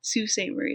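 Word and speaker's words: Sault Ste. Marie: so it is yes Sault Ste Marie you are correct Natsu salt Murray Sault Ste Marie is how you say it with a French accent um this book deals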